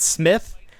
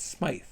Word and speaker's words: Smythe: Yeah, because also is it pronounced Smythe? It's not Smith. I've been saying crabapple. It's Smythe.